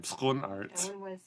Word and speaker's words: Schoenaerts: I had to learn how to pronounce his name, Schoenaerts. I wouldn't want to say that 10 times fast. Yeah. Well, it's very funny because even he doesn't know how to pronounce his name. He says Schoenaerts, but Belgians and Flemish people say, no, it's Schoenaerts.